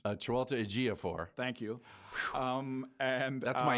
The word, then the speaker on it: Chiwetel Ejiofor: And Tilda Swinton and that actor whose name only you can pronounce. Chiwetel Ejiofor.